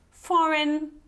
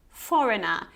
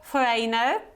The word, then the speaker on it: foreign: key foreign and Foreigner foreign Foreigner so it's not Foreigner okay it's foreign and Foreigner and pay attention here you have this short o so it's not o foreign but more like foreign Foreigner okay number eight